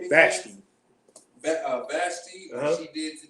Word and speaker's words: Vashti: Vashti.